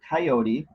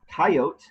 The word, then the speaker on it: coyote: you pronounce the word coyote dropping the final syllable and putting an accent at the beginning of the word chances are higher that